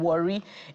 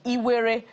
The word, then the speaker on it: Warri: And they say that even the name Warri is a mispronunciation by the colonialists of Iwere, which is a name ascribed to the Itsekiri.